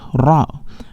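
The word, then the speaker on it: راء: is wrong so is the right pronunciation to say raw or great this is Rao as we have learned it with repetition what is this letter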